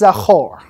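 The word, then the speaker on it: זכור: It's pronounced zachor, which means remember.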